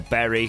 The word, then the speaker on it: Bury: We do lose to Bury there, or Berry, however you want to pronounce it. I think Berry's the correct pronunciation.